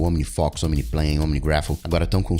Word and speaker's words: OmniFocus: Então, no caso do OmniFocus, você fala Omni, então você vai ter que escrever O-M-I-N-I-F-O, com acento no O, fó, que a gente fala assim, OmniFocus.